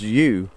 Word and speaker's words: Hjo: at the place that's spelled HJO, which is, I'm told, thank you, I think it was Karen told us this, it's pronounced you, which is why all